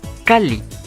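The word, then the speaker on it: calli: Esta es la terminación de cal y esta otra es para li formando cali. Por ello, esta doble l se presenta en muchas palabras y si bien se podría omitir, no lo vamos a hacer porque es muy útil para otras cosas que veremos más adelante. Entonces, cuidado cuando vean esta doble L porque no es una.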